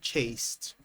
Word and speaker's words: chased: Here with the word chased, the ed is pronounced as a t sound here, chased.